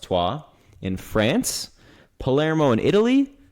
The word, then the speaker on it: Troyes: hear pop up a lot, Troyes, yes, it's pronounced Troyes, in France, Palermo in Italy, recently purchased Bahia in Brazil in the first division, and Club Bolivar from Bolivia.